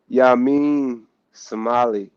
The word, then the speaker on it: Yamin Semali: first questions how do you say your name ya mean somali somali gotcha yeah so i i've always been